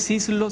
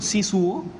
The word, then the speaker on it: Szyszlo: y es cierto que tu apellido no es szyszlo sino si su que se pronuncia claro cuando estuvo en